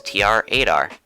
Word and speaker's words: TR-8R: referred to him as tr-8r which phonetically in case you couldn't tell sounds like traitor when said out loud well there you go